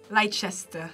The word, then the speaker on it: Leicester: Leicester. Leicester. Leicester. Leicester? Yeah, Leicester. Leicester. Leicester. Oh! This one's somewhat phonetic. Yo, that whole ice is just gone. It's like Leicester.